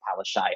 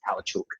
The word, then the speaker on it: Palaszczuk: Although I did only just find out the other day that Anastasia Palaszczuk's surname is pronounced Palaszczuk. I thought it was Palachuk.